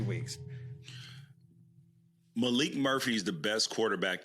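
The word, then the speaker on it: Maalik: It's not Malik. Malik Murphy. It's Malik. That's spelled.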